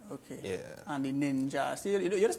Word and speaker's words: Ninjah: And the Ninjah. See, you just spell it N-I-N-J.